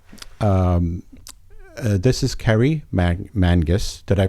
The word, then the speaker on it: Mangis: So, in case you're wondering who I'm talking to, if you didn't see the intro, um, this is Kerry Mang Mangus. Did I pronounce that right?